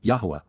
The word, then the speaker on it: Yahowah: Cal imperative, Yahowah, Yahowah, the proper pronunciation of the name of Eloah, God as directed in